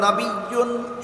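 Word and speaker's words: نبيّ: নবী শব্দের একটি উচ্চারণ হলো নবিয়্যুন, এর অর্থ হলো যে কোনো নবী।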